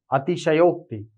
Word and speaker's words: अतिशयोक्ति: सब पूरा होता है ठीक उच्चारण क्या होता है अति संयोग अतिशयोक्ति अभी तक हम लोग अतिशयोक्ति पढ़ते द वह गलत उच्चारण है एकदम सीधा ठीक है